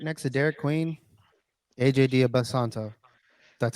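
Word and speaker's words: Dybantsa: AJ Dia Basanto, that's how you say his name.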